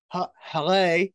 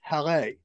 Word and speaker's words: Haleh: Well, you played Haleh. I want to make sure I said it correct because I know during the series that was brought up in the series that it had to be pronounced Haleh.